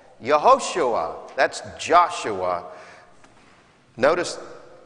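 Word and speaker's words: יהושע: In Hebrew, how he would have actually been called, Yehoshua. That's Joshua. Notice how verse 21 concludes, for it is he who will save his people from their sins. Yehoshua, Joshua, Jesus literally means the Lord saves.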